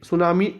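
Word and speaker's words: tsunami: world सुनामी awareness day सुनामी T silent ंद है सुनामी awareness day 5थ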